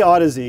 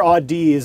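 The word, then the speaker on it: Audeze: fantastic odyssey is pro and how do you pronounce it you don't we say odyssey yeah okay you hear audis a lot that's the most common variant i'd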